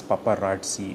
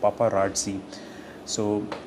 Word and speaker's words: paparazzi: Pronunciation is paparazzi. Paparat. It's R-A-T. It sounds like rat. Paparazzi. So what is the way, the Wordaholic's way of remembering this word for a longer time?